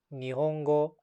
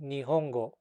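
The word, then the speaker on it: 日本語: right sounds for example the word japanese in japanese is a nihongo but i used to say nihongo which is the round the wrong pronunciation so i would practice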